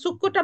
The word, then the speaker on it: succo: succo, সুক্কো, juice. আমরা যে juice oh, খাই আমরা বলি যে জি, সুক্কো, সুক্কো দি ফ্রুত্তা বলি, ঠিক না? জি, ফ্রুত্তা তো আমাদের একটা যুক্ত অক্ষর আছে, বলুন তো। আচ্ছা, সুক্কোটা বানান তো, এখানে লিখে আছে, তাও আমাকে আবার